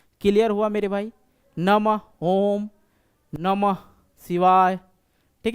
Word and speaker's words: नमः: तो इसी प्रकार से नमः नमः ह का उच्चारण अंत में करना। जैसे लिखेंगे श सॉरी स लिखते हैं तो स होता है क्या होता है ये श होता है क्या होता है स लेकिन इसको अगर ऐसे बोल देखा जाए क्या हुआ स हुआ ना ह का उच्चारण आ रहा है और ऐसे विसर्ग का मतलब ही होता है ध्वनि जो होता है